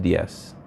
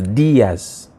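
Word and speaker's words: Díaz: where the accent is so Diaz Diaz the accent is only I it's not just DS It's Diaz right Jimenez Jimenez all right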